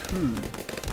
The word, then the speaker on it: Coup: And so I ended up getting him Coup. If you've not played before, it's spelled C-O-U-P.